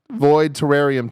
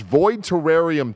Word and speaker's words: Void Terrarium: Charles void terrarium too I think terrarium is the pronunciation no you everybody every once in a while I have to read some name on this list it is rarely this bad the game is pronounced void terrarium 2.